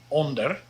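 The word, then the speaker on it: onder: but it's really not under sounds a lot like the word under which is exactly what it means so this says the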